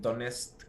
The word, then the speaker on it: Donetsk: parts of Ukraine, some like armed groups in Donetsk and Luhansk. These are, I don't know if I'm saying it correctly. Donetsk.